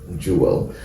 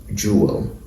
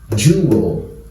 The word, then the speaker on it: jewel: these things from how a lot of Nigerians pronounced jeel so this is pronounced jeel in Nigerian English and English is Jewel okay so let's quickly go through the appropriate